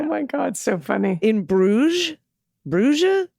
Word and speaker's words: Bruges: to correct the correction the s in bruges is silent much like the d in the previous episode the d is silent in america oh my god so funny in bruges bruja bruges all right well anyway